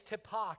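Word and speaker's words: Tippah: it t-i-p-p-e-r Ash Ashley it's tepa County t-i-p-p-a-h uh it's an Indian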